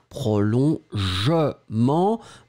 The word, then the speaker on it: prolongement: then the second one, prolongement, but then the je, you don't insist on that, so it will be prolongement, jement, remember, the E will be dropped, prolongement, prolongation, prolongement.